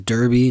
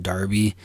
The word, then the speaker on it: derby: 2020, and that is Derby, not Derby. There was some confusion about that because the commentators for Sacramento kept pronouncing it Derby, which is the English snobby way of saying Derby.